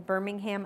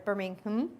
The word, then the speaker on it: Birmingham: Birmingham SharePoint user group I'm from Birmingham Alabama that's pronounced completely different than here where it's Birmingham but we actually do call it the ham so it's that's the way you pronounce it there that picture of me